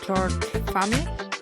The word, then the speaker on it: George Fahmy: So welcome back to Bits and Bolts with Paulina, and today I have George Fahmy. Is it correct pronunciation?